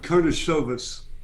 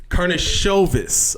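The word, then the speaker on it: Karnišovas: Karnisovas. Karnisovas.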